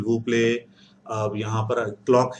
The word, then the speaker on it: quelle: वहां पर, हम आज केल पढ़ेंगे। दूसरा फॉर्म पढ़ेंगे, केल, केल। ओके, केल के कैसा प्रोनाउंसिएशन रहेगा, स्पेलिंग ये रहेंगे, स्पेलिंग ये रहेंगे, केल, केल। ओके, QELL, ओके, केल।